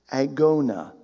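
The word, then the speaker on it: ἀγῶνα: for our english word race is a word pronounced agona from which we get our english word agony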